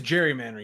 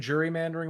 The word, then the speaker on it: gerrymandering: No, it is gerrymandering. You said jury mandering one time, but it is is gerrymandering.